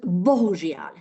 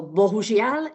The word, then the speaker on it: bohužiaľ: And then comes a little bit difficult word, 3 syllables, bohužiaľ. As you already may know, Boh is God, and žiaľ is sorry, pity. So bohužiaľ is unfortunately, or it's a pity, okay?